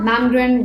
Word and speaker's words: Malmgren: Sorry, it's Pippa Malmgren with a silent L.